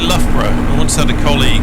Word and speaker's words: Loughborough: from Australia visit, and they thought Loughborough was pronounced Luga-Baruga. Which actually, if you're Australian, it probably actually makes more sense than Loughborough when you see how it's spelled.